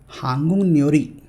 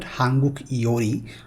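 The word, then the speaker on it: 한국요리: Hangul nyori. It's not hanguk iori or a hangu gyori. It's hangul nyori.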